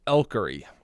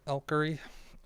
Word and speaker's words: Elkery: So, I think that's I'm pronounced Elkery. Is how I pronounce it, Elkery.